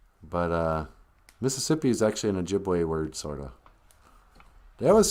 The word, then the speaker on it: Ojibwe: That's just a white man not being able to say Ojibwe. You know, we're the Ojibways. Some people would even spell Ojibwe with a wa. Ojibwas. You know. But okay, so they couldn't say Ojibwe. They just said Chipwe or Ojibwe.